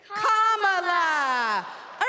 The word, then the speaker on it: Kamala: do you pronounce it first you say comma like a common sentence then you say la like la la la la la put it together and it's 1 2 3 comma all right so let's practice